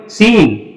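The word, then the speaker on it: scene: अगला देखते हैं SC, सी के तुरंत पहले एस आ गया तो अब सी क्या होगा साइलेंट होगा। उसके बाद ENE, इसको क्या पढ़ेंगे सीन, सीन, सीन का मतलब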